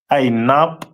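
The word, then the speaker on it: ענב: The symbol is pronounced as Ainab in the Hebrew.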